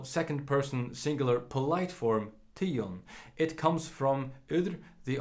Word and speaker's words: tygum: It goes quite simply like tion, tion, tion, tiara. It appears the dative form took over nominative and accusative here, so all the final m's are pronounced n as usual.